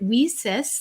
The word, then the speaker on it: WiCyS: acronym wheesis w-i-c-y-s and we pronounce it we sis like we sisters because that's exactly what